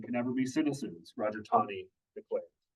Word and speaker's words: Taney: Roger Taney. It looks like Taney, but it's actually pronounced Taney.